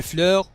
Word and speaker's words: fleurs: et les fleurs اس لا تنطق في الأخير.